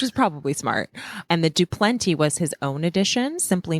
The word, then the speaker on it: Du Plenty: And the DuPlenty was his own addition, simply meaning do plenty, because it's spelled DU space PLENTY. But he meant like DOPLENTY, like I do plenty.